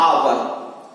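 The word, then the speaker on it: hour: का प्रयोग करते हैं, क्योंकि एच आ रहा है, एच साइलेंट है यहाँ पर, लेकिन जब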